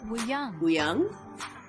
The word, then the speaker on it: Wooyoung: Mingi, Mingi, Wooyoung, and Jongho. This is how they pronounce their names.